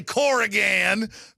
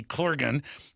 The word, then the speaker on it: Corgan: it in Texas, drawl, where we butcher names, Billy Corrigan. Billy Corgan. Leanne came here and said, you know, you're friends with him. You ought to pronounce his name right. Billy Corgan.